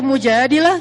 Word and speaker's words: Al-Mujadilah: Jadi tergantung kita bacanya dilah atau dalah. Kalau kita baca Mujadilah, berarti perempuan yang lagi curhat. Kalau kita baca Al-Mujadalah, berarti curhat itu sendiri.